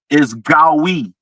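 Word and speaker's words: גוי: All right, so the Hebrew definition, the pronunciation of that word is Gawi. It would be spelled Gowy in English.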